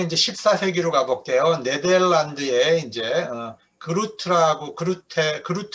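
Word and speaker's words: Groote: 네덜란드에 이제 그루트라고 제가 이제 했지만 원래 그 네덜란드식 이제 발음 흐루테예요. 흐루테.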